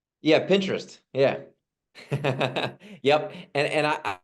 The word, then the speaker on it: Pinterest: so why don't you share your thinking behind pininterest and if I'm even saying it right yeah Pinterest yeah yep and and I I you know